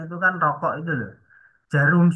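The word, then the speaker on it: Djarum: Jarum super itu kan DJ ya. Bacanya jarum ya, bukan dejarum ngono ya.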